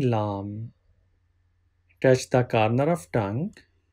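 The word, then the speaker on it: لام: this is first molar for pronouncing LOM touch the collar of tongue with the base organs of 3 front teeth and first molar which is along them from here you can pronounce la you can pronounce either way right hand side or left hand side up to you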